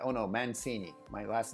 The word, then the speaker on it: Mancini: generations and their name if it's Mancini is Mancini that's the way they pronounce it and that's the way it is